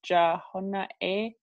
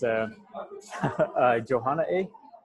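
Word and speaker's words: Jóhonaaʼéí: It was Jahona-e. Yeah, I hope I don't butcher this word, but it's Johanna A.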